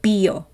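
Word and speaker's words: 비어: here goes word play they pronounce the word beer like bio it carries multiple meanings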